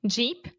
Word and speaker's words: Jeep: Jeep, sheep. Yeah. So sheep, ovelha has the SH sound, sheep. And then Jeep has the Jeep.